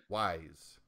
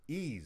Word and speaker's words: Ys: Well, I never knew how to pronounce it until I heard somebody call it ease, and I'm like, oh, well, I guess that makes sense.